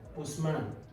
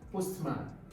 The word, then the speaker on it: postman: So now, when you have blackboard, two words that comes together, whole words that come together, the stress will be on the first. That is the rule on compound words. So when you come about compound words, words that come together, look at another one: postman, postman, postman.